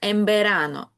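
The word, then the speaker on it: en verano: Тому н верано влітку звучить як емберано.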